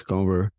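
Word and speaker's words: Kanwar: properly uh discover um The W and the V the V and W get interchanged in Punjabi so it's cover um the end is nasal um but I grew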